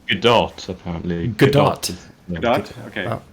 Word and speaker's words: Godot: It's Godot, apparently.